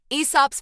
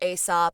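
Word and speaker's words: Aesop: be the foxes in eso's fables first off what are eso's fables or asop or you know whatever your preferred pronunciation is in short they are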